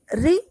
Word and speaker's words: ऋ: और अब री का उच्चारण इस तरह से होता है री, और इसी तरह श